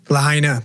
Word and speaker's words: Lahaina: Lahaina.